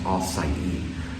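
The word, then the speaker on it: açaí: and I got the all side so it's pronounced acai it's a fresh strawberry kind of drink refresher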